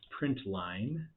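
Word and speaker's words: println: system.out do print Ln which I pronounce print Line Print Ln that is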